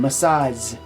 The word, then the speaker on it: massage: confused with massage massage massage also has this j sound at the end but think of it as a z sound massage right massage massage all right massage like replace sh with the zh a message is a